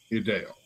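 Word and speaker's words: Y'Dale: He was very attractive, well spoken, and the name is spelled Y''DALE, Mr. Idale.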